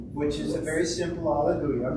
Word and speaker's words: Alleluia: Alleluia has 4 syllables. I'm sorry, 5 syllables. Alleluia. 5 syllables. We're used to in English, Alleluia. So we have to get used to that.